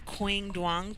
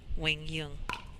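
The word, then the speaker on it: Quang Duong: against number five seed it looks like it's quing dang but ladies and gentlemen it's pronounced Wing Yung I am Michelle esal I am here with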